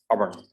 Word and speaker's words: urban: So it is urban, urban, urban, urban. So again, you know the rule, like R is before a consonant. So we pronounce it as urban, urban, rural and urban.